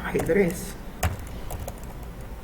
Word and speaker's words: ajedrez: Hay agudas que no están con la regla, que no son que no terminan en NS ni vocal, por lo tanto no llevan tilde. Como por ejemplo ajedrez, como por ejemplo capataz.